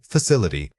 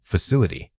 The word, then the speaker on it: facility: Wrong, facility. Right, facility. When speaking academic English, it is easy to rush the middle syllables. Take a micropause between the stressed syllable and any unstressed ones to maintain rhythmic clarity.